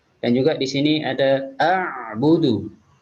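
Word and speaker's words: أعبد: Dan juga di sini ada a'budu. Jadi di sini ain ditekan, tidak boleh menjadi a. Tapi karena ain dia punya sifat tawassut sama seperti huruf lam, jadi harus dilunakkan ketika membacanya.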